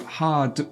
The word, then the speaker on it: hard: and it's really common for the Singaporeans to not say the last letter of hard. The sound d needs to be pronounced. So hard work.